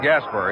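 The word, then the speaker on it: Gaspar: Rod Gasper, he spells his name G P A R. Pronounces it as it were spelled E R.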